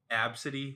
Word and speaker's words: Abcde: Or this one girl, Absidy, which is just ABCDE.